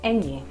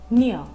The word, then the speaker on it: ñ: In Spanish, this letter is said as ñ, and the sound it has is ñ, like in onion.